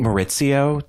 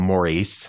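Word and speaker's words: Mauricio: I also have to say, I think Maurizio, to use Lisa Vanderpump's pronunciation. Maurizio. I think. And you remember how Kim Richards would call him Maurice? That was the best. Yeah, she'd be like, I don't know, Maurice.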